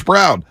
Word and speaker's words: Braun: They say it's spelled Braun, but they call him Brown.